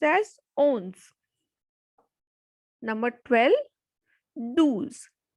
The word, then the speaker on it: douze: Number 12, douze, because O and U has the sound U. So douze.